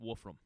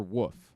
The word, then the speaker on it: Wolfram: Grant Wolfram. Great. Grant what? Wolfram. Wolf. Like, Wolf Ram. But Wolf or Woof? It's spelled Wolfram. So WOOF? No, Wolf.